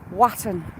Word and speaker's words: Walton: do you know what there's a village just over there called Walton but the odd cumbran do know what they call it Waton but it's spelled a w a l t o in thank you very